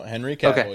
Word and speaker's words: Cavill: Not as much money as Henry Cavill's mustache. Wait, did I say it right, Bryan, or did I say it wrong? No, Henry Cavill, You're good.